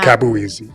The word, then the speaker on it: Akabueze: How you pronounce your first My name? name is. Akabueze.